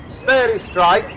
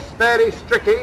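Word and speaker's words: sphairistike: called in those days, according to one's pronunciation, sperry strike, or sperry stricky as some people call it, was introduced in about 1875, officially.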